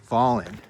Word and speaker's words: Volin: is we look at a place like Voland, how do he pronounces it, Volen or Volin? He goes, "It's Voland."